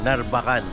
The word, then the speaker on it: Narvacan: Papunta o pababa tayo ng Narbacan. Yun. Yung pala yung tamang bigkas dun. Narbacan. Narbacan. Hindi Narbacan.